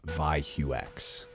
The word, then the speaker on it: ZahyoX: I had to reach out to them and ask how to say their name, and it's actually ZahyoX.